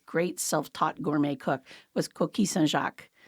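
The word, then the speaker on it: coquilles Saint-Jacques: self-taught Gourmet cook was kis sjac and I do pronounce it the French way because that is um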